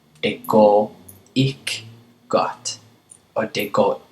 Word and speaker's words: ikke: It sounds like they're just saying ik, ik. But this word is actually pronounced ikke, okay? But if you say it quickly, det går ikke særlig godt, or det går ikke godt, okay?